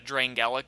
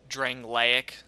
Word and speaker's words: Drangleic: dual wielding build this along with um the drain gallic sword or Drangleic sorry people get mad at me for mispronouncing it now um yeah these two swords